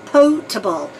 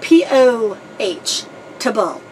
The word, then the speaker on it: potable: it turns out that the proper pronunciation is potable like Poh Tabo potable and it's because it